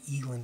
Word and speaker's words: eland: Supposedly, there's a lot of eland in this area, and I'd really like to shoot an eland, so, or elan, depending on how you pronounce it.